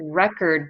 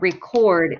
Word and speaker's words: record: marriages births and deaths so that's record the noun and record is the verb all right that was